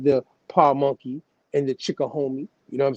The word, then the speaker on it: Chickahominy: You going to spell it for you just in case? Chickahominy. Now coming down, in addition to the Powhatan Confederacy tribes, like the Pamunkey and the Chickahomie, you know what I'm saying?